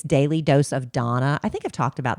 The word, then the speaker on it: Dana: but she spells Donna d a n a, so you might think it's Daily Dose of Dana, but it's Daily Dose of Donna is how she pronounces it.